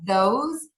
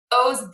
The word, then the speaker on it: those: hear people mispronounce are those these and because those these cause because those are all pronounced with the z sound at the end yeah and those are